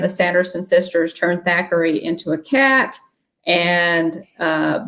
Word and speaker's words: Thackery: know that disney magic thackery banks is the older brother and his name is thackery not zachary a lot of people mispronounce that zachary zachary banks um follows